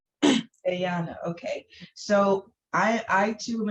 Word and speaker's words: Guyana: Did I pronounce that right? It's Guyana. gay. Guyana.